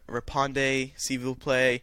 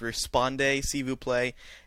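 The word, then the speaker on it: répondez s'il vous plaît: butchered the RSVP pronunciation he thought it was Rippon de cebú play then someone emailed and said no it's respond a Cebu play without checking it so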